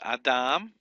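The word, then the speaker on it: אָדָם: Remember, the accent is always placed on the final syllable unless it's indicated by a caret here, like down here, number 3. This is Adam, man or Adam, and the transliterated value.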